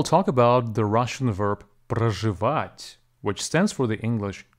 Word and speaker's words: проживать: Today we'll talk about the Russian verb проживать, which stands for the English to live. Проживать has three syllables, про, which is actually pronounced as pra, жи, and вать. The stress falls on the last syllable.